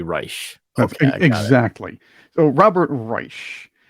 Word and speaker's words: Reich: right I don't know who is he pronounces it Reich he says Reich well he doesn't want to be like Third Reich he wants to be Reich okay exactly so Robert